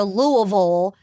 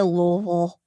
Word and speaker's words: Louisville: is to say it like you're drunk on bourbon. So just slur it.